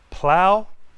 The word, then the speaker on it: plow: Plow, like in flower.